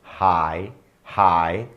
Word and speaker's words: high: sinônimos Hi significa alto hi hi ah pronúncia é igual a Oi é tá mesma pronúncia porque o GH é mudo tal significa alto tal